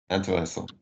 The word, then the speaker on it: intéressant: What is the pronunciation of the word IN? Je suis? No, of IN, not I am, IN. Like the letters IN in French. Intéressant.